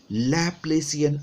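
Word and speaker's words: Laplacian: Where, अब ये क्या था, this del square whole del square, this is known as लैप्लेसियन operator.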